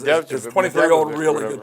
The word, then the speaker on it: Medvedev: Yeah, the Medvedev, how you say his name, is Medvedev, 23-year-old Medvedev, really whatever.